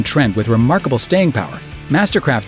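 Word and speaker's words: MSTRKRFT: But just like Tumblr, Flickr, and the rest of the vowel-challenged bunch, their name is pronounced like a normal word. It's just Mastercraft.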